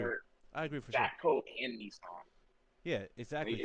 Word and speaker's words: Jatco: new Jackal or Frontier. Jackal? Jatco. JACTO. Uh, no, Jat, and then Co.